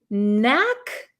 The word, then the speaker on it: knack: this is have a knack for something have a knack for something so you'll notice there is a k here but this K is silent we do not pronounce this K okay so it's the